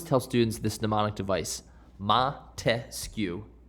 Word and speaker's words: Montesquieu: students this mnemonic device ma te sku three syllables three branches of government